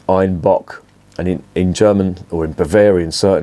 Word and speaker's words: Einbeck: basically where this beer was revived einbeck is pronounced Ein Bach and in in German or in Bavarian certainly